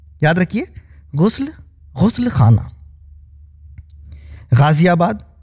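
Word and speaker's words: ग़ाज़ियाबाद: रखिए गुस्ल गुस्ल खाना गाजियाबाद यह दरअसल यह वर्ड मैंने इसलिए लिया कि इस शहर के नाम का उच्चारण भी लोग बहुत ही गलत करते हैं तो व यह गाजियाबाद है एक और है गौरी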